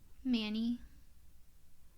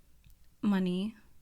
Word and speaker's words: Mani: Manny. Money. I said Manny too. But yeah, either way works.